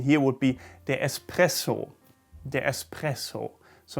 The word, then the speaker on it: espresso: word and germans call this often at least expresso context beta an expresso like it's an express or something very fast